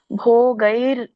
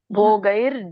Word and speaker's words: ಭೋಗೈರ್: ಸುಖಾನಿಚ correct ನೀವಿಲ್ಲಿ ಎರಡನೇ ಲೈನ್ಲ್ಲಿ ಭೋಗೈರ್ ಅಂತ ಹೇಳಬೇಕು ರ ಬರಬೇಕು ಅಲ್ಲಿ ಭೋಗೈರ್ ಜಿ ಆಮೇಲೆ ಜಿ ಬರಬೇಕು ಭೋಗೈರ್ ಜೀವಿತೇನವ ಅಂತ ಹೇಳಬೇಕು ಆಮೇಲೆ ಇಲ್ಲಿ ರಾಜ ಭೋಗ